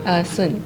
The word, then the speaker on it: Sun: Sun. So like Sun Wukong.